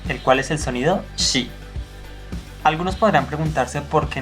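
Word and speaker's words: し: Se pronuncia shi. Shi. No chi, porque chi es otro sonido, sino shi.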